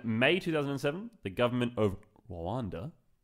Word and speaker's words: Rwanda: In May 2007, the government of Rwanda, I think you're not meant to pronounce the R too hard, so I'm just kind of sitting back on that one.